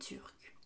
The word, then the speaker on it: turque: Par exemple, il est turc, elle est turque. Georges est grec, Lucie est grecque. C'est la même prononciation, mais si vous regardez bien, l'écriture est différente.